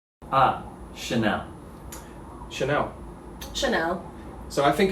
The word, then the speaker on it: Chanel: no h and just like hermes right ah chanel chanel chanel so i think if there is